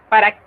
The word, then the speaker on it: pas: Pa, así se pronuncia. Quiere decir que esta S no se pronuncia.